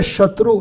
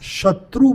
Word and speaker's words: शत्रु: तो इंद्र शत्रु लघु वोवेल क्या करना था? स्मॉल वोवेल का उच्चारण करना था। शत्रु बोलना था। लेकिन उनकी जीवा पर सरस्वती बैठकर क्या बोली? इंद्र शत्रो क्या बोला? लघु उच्चारण की जगह दीर्घ उच्चारण किया।